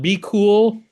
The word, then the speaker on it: BQOOL: And so we use a repricer called Be Cool. It's not spelled how it sounds. It's spelled BQOOL.